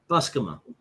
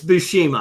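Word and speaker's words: Buscema: You mean Bushima? Spell it. B U S C M A Busma. That sounds wrong. It is. It's Bushima.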